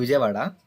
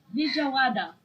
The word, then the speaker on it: Vijayawada: I'm from a, a, a city called Vijayawada. City called Vijayawada. Can spell it right now. Oh, can you spell it out? Yeah, Wow, Vijayawada. you speak so fast. Vijawada.